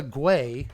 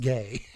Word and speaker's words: Gay: But this is this is a guay or you're the name is actually pronounced gay.